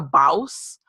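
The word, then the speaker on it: Bawse: And her book, How to Be a Boss, it's spelled B-A-W-S-E, is so amazing.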